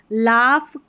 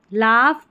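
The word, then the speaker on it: laugh: लाफ, कफ या कॉफ, लाफ, कॉफ, enough और रफ। यहाँ पर जो GH है ना, इसको फ पढ़ा जा रहा है। अभी ऊपर देखा तो GH साइलेंट था, लेकिन यहाँ नीचे देखा तो GH को फ पढ़ा गया है, ये टफ, ठीक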